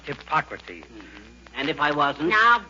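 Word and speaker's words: Hippocrates: Mrs McGee hello McGee hi hippocrate if you are referring to the father of medicine McGee it's pronounced hypocrates and if I wasn't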